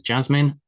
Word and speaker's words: Jasmin: I would say this is Jasmine with a J, and this is Yasmin with a Y.